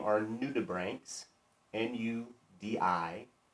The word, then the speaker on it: nudibranch: search for sea slugs their proper name are new tube ranks and you di b r8 + CH nudibranch is how you spell it new tuberank new brand new D means